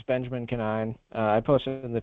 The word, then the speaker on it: Conine: It's Benjamin Canine. I posted it in the chat, but it's Benjamin Canine. So it's Benjamin, and Canine is spelled Conine.